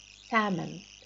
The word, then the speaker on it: salmon: Have you noticed that L is silent? Like silent. Salmon.